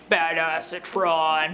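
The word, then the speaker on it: Badassatron: names like bad acetron which apparently is pronounced in a deeper voice badass Atron however D16 decides instead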